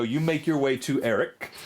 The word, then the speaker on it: Aeric: So you make your way to Eric, and that is, by the way, I'll spell it Aeric. I knew it was weird. Eric, the taxidermist, and when